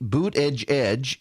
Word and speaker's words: Buttigieg: And then, the Buttigieg campaign came out and kept telling people, it is boot edge edge. That's how you pronounce it, boot edge edge. And so I would tell Siri, boot edge edge, and it would write out BOOT space EDGE space EDGE space.